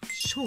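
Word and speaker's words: 魈: はい、せーの、ドン、ショー、ナヒード、ショウって読むよ。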